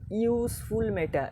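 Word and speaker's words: useful: Vowel আছে ইউ, কিন্তু উচ্চারণটা কী করছি? ইউজফুল metal, ইউজফুল metal. এই যে ইউ এর মতো উচ্চারণ হচ্ছে, তখন আমরা কী লিখবো?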